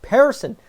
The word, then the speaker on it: Persson: Persson.